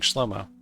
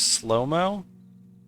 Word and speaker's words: Shlomo: He has S-H-L. S-H-L. That's got to be an S-H sound. Not an S-L sound, right?